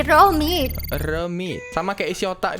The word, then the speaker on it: Reomit: Kalau di Korea reo itu bacanya ro. Berarti Romit.